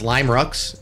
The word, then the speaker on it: Limerux: It's Lime Rux is the right way to say their team name.